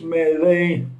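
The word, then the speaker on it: Milei: That's direct, except that Millet, his last name is with I, whereas my law, Millet, goes with a Y. Okay, that's the only difference. But the pronunciation is the same.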